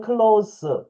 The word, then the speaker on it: close: 근데 for 왜냐면 you are close 여기는 클로스 형용사로 예 발음을 하셔야 됩니다. 동사일 땐 클로즈 하면 닿다. 감다 이런 뜻을 가지고 있는데요. 클로즈 클로우스 하게 되면 기본적으로 가까운 접근 접근한 근접한 뭐 이런 뜻을 가지고 있죠.